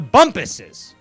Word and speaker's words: Bumpus: It rhymes with Crumpus, but it's not Crumpus. It's the Bumpuses.